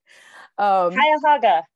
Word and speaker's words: Cuyahoga: Justice on the, I'm going to say this name wrong, I'm scared. Cuyahoga.